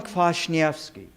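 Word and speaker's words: Kwasniewski: house the collection of Roman clash yes key yes that's how you pronounce that name their Roman clash Nevsky and he was a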